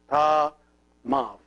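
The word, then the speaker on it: ⲧⲁⲙⲁⲩ: See this letter, which is the epsilon, is here pronounced like a V because it is preceded by an alpha. Ah. So if it is preceded by an alpha, it is pronounced like a V. So this one becomes ta mav.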